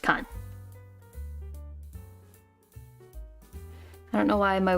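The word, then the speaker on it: 館: eat radical with that it becomes building also pronounced Khan I don't know why my words are slowly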